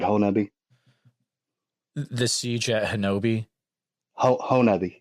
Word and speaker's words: Honobia: Honobia. It's pronounced.